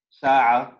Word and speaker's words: ساعة: In feminine we say hadhi sayyara, hadhi sa'a, هذه قهوة. Say this word. ساعة. ساعة. Remember this ayn. This ayn is very important.